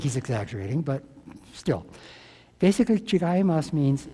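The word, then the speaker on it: 違う: a little Japanese in here that word is pronounced chigas and I was told by one of my Japanese professors it's probably the second most common word in Japanese now I think he's exaggerating but still basically Chimas means it's different and if a Japanese person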